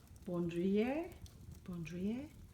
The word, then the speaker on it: Bandoulière: I learned how to pronounce it is Bandoulière 25 in graphic Damier Ebene.